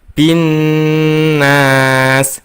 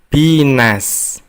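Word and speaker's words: النَّاس: Kita membacanya binnas, bukan binas.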